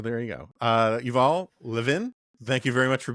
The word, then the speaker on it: Levin: uh there's there are a lot of people who spell their name the same way I do and say Levan. Uh and it's okay for them to be wrong, but they are wrong.